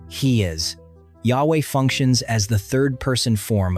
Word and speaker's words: Yahweh: Today, it is commonly pronounced as Yahweh.